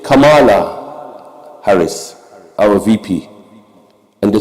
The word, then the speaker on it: Kamala: It's not Kamala, it's Kamala. Do you remember that? Maybe some of you remember that. They corrected immediately that this is not the way you pronounce it, and they were offended.